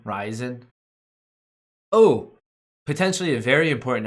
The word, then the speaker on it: Ryzen: Ryzen, it's pronounced Ryzen, not resin. Ryzen.